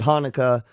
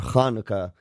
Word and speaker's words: Hanukkah: sound yeah and the letter is CH but because in Hebrew do it's not the same we spell it that's why you see it sometimes H sometimes you see it CH yeah so people pronounce it Hanukah um or kanuka and that's why you sometimes see it in a CH and I never can